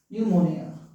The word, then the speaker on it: pneumonia: न्यूमोनिया। न्यूमोनिया का spelling याद है आप लोगों को?